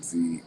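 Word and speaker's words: ze: other non-binary pronouns include z um and it's pronounced z but you will see it as z e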